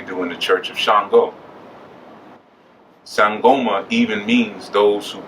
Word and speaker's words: Shango: Yeah, everybody wants to be Shango. Shango Macho, right, exactly. Chango. And they say Chango Macho in Latin countries because in Latin countries they never pronounce sh, it's ch.